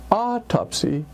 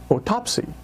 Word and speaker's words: autopsy: And rather than autopsy, I heard autopsy.